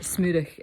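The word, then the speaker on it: smurich: I didn't know that that smurik is is kiss um and it's spelled s m u r i c h so I um I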